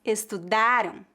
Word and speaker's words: estudaram: praticar eles trabalharam passado eles trabalharão futuro Eles estudaram passado eles estudarão futuro eles comeram passado eles